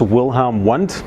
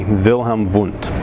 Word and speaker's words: Wilhelm Wundt: looks like it's pronounced Wilhelm wundt it's pronounced vill Hammond because he's German so the W becomes a V Vilhelm vote you should also know